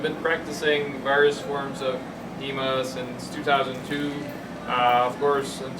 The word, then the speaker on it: HEMA: So, by the way, I say HEMA, I don't mean Eastern martial arts, it's just that I'm French, so I don't pronounce the H. So it's HEMA, right?